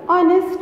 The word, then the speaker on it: honest: We use an before silent H. That is, the word starts with a consonant letter H, but it has a vowel sound. For example, honest man. Here H is silent and we pronounce from O.